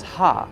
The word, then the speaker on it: ja: But the J is pronounced as ha in Spanish. So ha ha ha, said the same, but written differently.